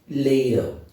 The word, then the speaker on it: ladle: The word is ladle. Lay. This is A. Ladle. Ladle. Now if you look at this, it says lay. Lay. A dot symbolizes or means that we have ended one syllable, we are moving to another syllable. So this tells us that ladle is a disyllabic word, two syllables.